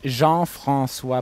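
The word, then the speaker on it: Jean-François: do I say your name in French it's Jean Francois but no for ease of use reason no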